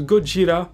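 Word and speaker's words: ゴジラ: personnage d'un reporter américain en japonais godzilla se prononcent godzilla et il s'agit en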